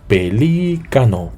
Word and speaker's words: pelícano: Por ejemplo, pelícano, ¿sí? Es una palabra esdrújula. El golpe de voz recae sobre la antepenúltima sílaba.